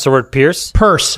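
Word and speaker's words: Peirce: pronounce the word pierce purse first person no it's spelled pierce but a hester purse is worth following on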